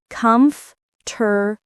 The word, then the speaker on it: comfortable: Comfortable is pronounced combable.